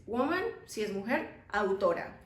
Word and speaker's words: autor: In Spanish it's autor without H. Autor. ¿Sí? We don't have that structure, TH, we don't have that. It's always T and after that a vowel. So, autor.